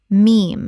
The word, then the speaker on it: meme: e Ethernet Ethernet Word 81 meme Common mispronunciation mem or mimetic Correct pronunciation meme One syllable that rhymes with team.